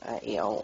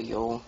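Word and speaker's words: Eöl: I say Eel or Yule, however you want to pronounce it.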